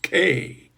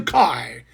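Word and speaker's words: Takei: Oh my, it's George Teay, not Tai as someone has been insisting on pronouncing it for 60 years. George Teay, not Tai. Teay as in Tupe.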